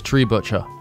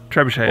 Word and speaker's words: trebuchet: cars a bomb word is tree butcher yeah yeah trebuchet is true shaders trebuchet is yeah I was I pronounced it tribute cheers yeah triple tree don't don't data 550 he